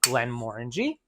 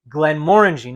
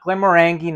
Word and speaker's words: Glenmorangie: a half ounces in my mixing glass of Glenmorangie and that's how you pronounce it guys Glides guys Glenn morangie not glamorangi not glamor Angie Glenn moringy Marie brizard a wonderful family of